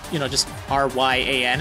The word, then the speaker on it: Raihan: like you know just rya and it's just an alternate spelling this is not his Japanese name so don't assume that it's a Japanese pronunciation I guess that's probably